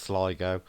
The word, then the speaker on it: Sligo: Joanne says it's pronounced Sligo.